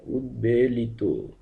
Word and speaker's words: উদ্বেলিত: উচ্চারণ স্বাভাবিক থাকবে অর্থাৎ শব্দের শুরুতে উৎ উপসর্গ যুক্ত হলে সেক্ষেত্রে ব ফলা স্বাভাবিকভাবে ব এর মতই উচ্চারিত হবে যেমন উদ্বেলিত উচ্চারিত হবে উদ্বেলিত উদ্বেগ উদ্বৃত্ত ঠিক এভাবেই